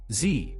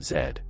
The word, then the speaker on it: Z: word Canadians say Toronto Z the last word of the alphabet is pronounced Z in the US in Canada that same letter is Zed produce when using this